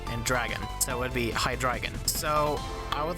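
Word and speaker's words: Hydreigon: it is gif and it is not hydrogen it is high dragon thank you and good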